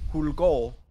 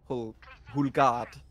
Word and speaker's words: Hulgard: So people usually pronounce it as Hulgaul when it's actually Hulgard.